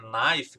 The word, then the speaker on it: knife: Então, knife. Tudo isso que começam com K, mas não fala o K. Você não diz knife, você não diz know. Você só fala knife ou know. Aí você ignora na pronúncia o K.